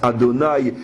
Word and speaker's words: Adonai: qui a 4 lettres, qu'on ne lit pas tel qu'il s'écrit, qu'on prononce Adonai et non selon l'écriture véritable.